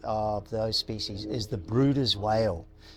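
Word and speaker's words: Bryde's whale: those species is the bruers whale it spelt like Brides but it actually pronounced Brutus and they're a large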